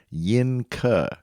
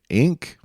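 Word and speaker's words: Yinke: their nomination is the Inc I5 now it's y-i-n-k-e so in Mandarin Chinese that would be pronounced Yin Ka but if you want to say ink that works for me the ink I five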